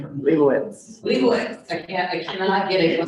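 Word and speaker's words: Leibovitz: We had also the famous photographer Annie, can you pronounce her last name for me? Leibowitz.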